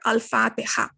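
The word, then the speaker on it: الفاتحة: This is a Huruf Kamariya because you are pronouncing it. You're pronouncing the al here, Al-Fatiha.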